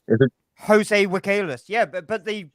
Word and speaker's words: Villegas: Jose Villegas. Yeah, but the V as well. It's pronounced W, Jose. isn't it? Like Villegas. No, it's a Y. The two L's is a Y.